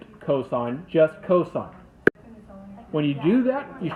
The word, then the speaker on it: cosine: For the same reason I don't say cos, I say cosine when I see that, because that's just what it's short for.